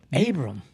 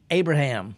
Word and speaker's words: Abram: Because, Abram. Yeah. I said it right. You got it, yeah. Because I want to say Abraham. Yeah, well, I mean, I'll respond to it.